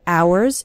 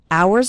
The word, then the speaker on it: hours: spend hours and hours remember the H in the word hours is silent so don't pronounce it at all hours and hours and the